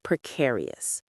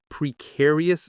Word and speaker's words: precarious: Precarious situation. Let's get the pronunciation right. Prearious. It has four syllables and the stress is on the second one.